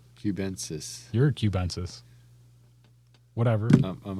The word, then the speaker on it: cubensis: it Cuban 12 times cubanasis where's the letter between n and the s I don't know that's just how he pronounces it so I followed along cubensis you're a cubensis whatever